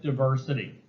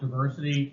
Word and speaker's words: diversity: Now, you'll hear AP talk a lot about diversity, or as people call it now, diversity. I don't know when it became a long I as opposed to a short I. I always call it diversity.